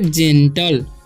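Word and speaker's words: gentle: ठीक है, और जीई है तो उसका उच्चारण ज हो जाएगा। ठीक है, तो जे, एन से हो जाएगा न, टीएलई का टल, तो हम पढ़ेंगे जेंटल।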